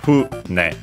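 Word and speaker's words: 船: Actually, fune, so accent on the first syllable.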